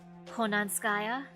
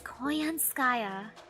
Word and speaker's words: Koyanskaya: I mean, Konanskaya? Aw man, I said her name wrong. Whoops, it's Konanskaya. Or, what was the other one you called her? Koyanska? Sky or something like that? It's Koyanskaya.